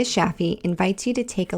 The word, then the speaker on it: Shafie: Connect with her on LinkedIn or Instagram at Sheeta Shaffi to learn more. Sheeta is spelled Shideh, and Shaffi is spelled Shafie.